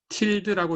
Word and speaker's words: tilde: 여기 물결 무늬는 tilde라고 읽으시면 됩니다. tilde. 예, 이렇게 읽으시면 됩니다.